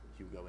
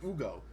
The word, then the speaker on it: Ugo: Garza, Menot, and Hugo, Ugo Gonzalez, excuse me, not Hugo, it's Ugo, as I learned from his pronunciation of his name from his introductory press conference today.